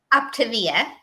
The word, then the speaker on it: Optavia: It's because it's for optimal health, right? So think Optavia.